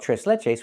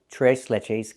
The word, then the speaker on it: tres leches: can, but we don't we don't call it three milk cake. We use the Spanish name and we call it t leches cake or t leches cake depending on your pronunciation.